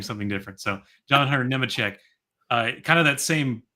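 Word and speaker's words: Nemechek: And I'll say Nema for your sake because I know that's how you say it.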